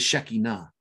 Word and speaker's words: Shekinah: In Hebrew, and the proper pronunciation of he in Hebrew is Shekinah, but in the West we call it the Shekinah glory of God.